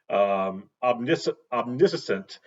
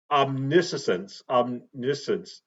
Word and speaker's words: omniscience: And this really speaks to God's omniscient. I always mispronounce that word, um, but it but omniscience.